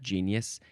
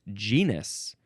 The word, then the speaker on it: genus: It's not genius. It's genius. G Nus.